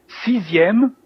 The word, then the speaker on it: sixième: Sixième, again, our X is like a Z, sixième.